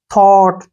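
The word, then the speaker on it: thought: को नहीं पढ़ना है टी एच ओ को क्या पढ़ेंगे थ और टी का टा ऐसे थॉट थॉट मीन क्या होता है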